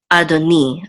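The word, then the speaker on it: אֲדֹנִי: is this and so the accent will be at on the last syllable adoni adoni which means my Lord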